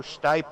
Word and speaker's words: Stipe: look at that Joe Stipe on board. I'm finally pronouncing his name right, and that gives me a little bit more self-confidence for later on. I'm no longer putting an R in there like I do with,